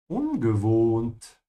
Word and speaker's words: ungewohnt: Es ist so ungewohnt. It's so unfamiliar or unusual. Ungewohnt. The O here is a bit longer because there's an H after it.